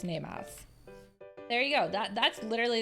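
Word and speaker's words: 寝ます: So RTD said nerimasu. It is actually, because it is a ru verb, it is nemasu.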